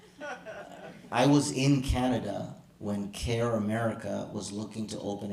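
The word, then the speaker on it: CAIR: Um rhymes with pair. Um, I knew I I was in Canada when KER, I'll just say it. I was in Canada when Care America was looking to open a Canadian chapter.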